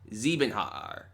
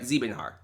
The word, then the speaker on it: Siebenhaar: So Siebenhaar is saying Siebenhaar. I said it right. Siebenhaar.